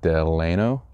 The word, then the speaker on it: Delano: yes sir here him between bill Benton and Delano that's how you pronounce Delano that's how the locals pronounce it I did